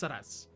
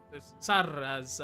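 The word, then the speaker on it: Saraz: Uh, my name is Saras. Saras as it is spelled. Saras. So like S A R A Z.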